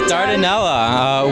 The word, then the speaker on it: Dardanella: Yes, Dardanella.